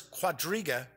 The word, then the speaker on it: quadriga: places and soon the thunder of the numerous quadriga believe that is how it's pronounced quad riga poor horse-drawn chariot racing at